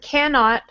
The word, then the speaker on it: cannot: So the second word here, cannot, the first syllable will be strong. Can is going to be the strongest part. And then this last T is very, very, very soft.